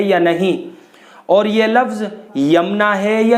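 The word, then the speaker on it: یمنیٰ: تو محترم ناظرین حضرات، اس نام کا صحیح تلفظ یمنا ہے، یعنی یا کے اوپر پیش ہے، یا کے بعد پھر جو میم ہے وہ ساکن ہے، اس کے بعد نون ہے، اس کے بعد یا ہے، اور پھر نون کے اوپر کھڑا زبر ہے۔ یمنا یہ اس کا صحیح تلفظ ہے۔ اور یمنا نام کے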